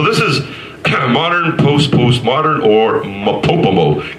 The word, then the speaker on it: MOPOPOMO: So this is modern, postmodern, or MOPOPOMO. Kind of rhymes with Kokomo, you know, like Bermuda, da doo da da da doo da doo da, way down in Kokomo. So MOPOPOMO.